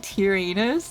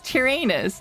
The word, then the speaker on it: Tyranus: incorrect on that one it's not tyrannos it's tyranus no it's spelled no it's spelled it's spelled it's not Darth taranus it's spelled t-i-r Enos I'm I'm pretty sure